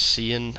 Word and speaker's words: cyan: I think I said cayenne in here a couple times. So, but I think it's cyan.